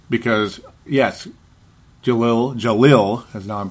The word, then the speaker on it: Jahlil: That doesn't mean I'm right, because, yes, Jahlil, as now I'm saying it correctly, Jahlil Okafor does have the ability to score at a very, very high rate.